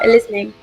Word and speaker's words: Elizmi: You are, Elizmi. Perfect. Sweet. I'm horrible at pronunciation, so...